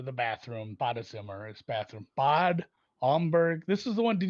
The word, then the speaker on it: Bad Homburg: it's like a long A because Bad means the bath or the bathroom. Badezimmer is bathroom. Bad Homburg.